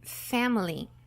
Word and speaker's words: family: Enfim vamos falar sobre Family interessantes sobre essa palavra é a pronúncia quando a gente pronuncia ela a gente não vai pronunciar a letra i Ok como estamos só